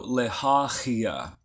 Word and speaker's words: Lehahiah: Sylvia says pronounce like the CH in Loch Ness. Yep, very similar. Yep, like a ch. So Lehahiah.